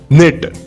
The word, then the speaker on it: knit: निट, KNIT, निट यानी बुनना, second form भी इसका निट है, थर्ड फॉर्म भी इसका निट है, KNIT, निट, निट, निट, के यहाँ पर साइलेंट रहता है।